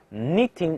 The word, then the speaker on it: knitting: Knitting a scarf，注意这个 k 不发音，直接就是 knitting。knit 是什么意思啊？